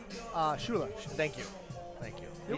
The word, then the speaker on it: Schuyler: By the way, interesting spelling of the name Schuyler. Yes, I would never pronounce it Schuyler. No, what but would you pronounce it? Schuler.